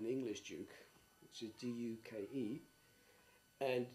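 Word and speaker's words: Deuk: and so and so and so, and El Duke. Because it was Duke, I wanted to differentiate between that Duke and the English Duke, which is D-U-K-E, and it's also very close to, and my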